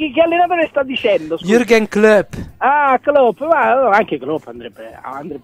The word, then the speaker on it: Jürgen Klopp: No, guarda, oggi lo sto pronunciando tecnico, lo sto pronunciando tecnico, certo. Jagan Club.